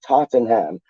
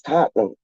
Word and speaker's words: Tottenham: It's like random man pronouncing like Tottenham like Tottenham. And it's like, no, it's Tottenham.